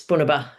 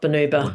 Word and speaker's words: Bunaba: It's Bunaba, not not Bonuba. Buna Bunaba.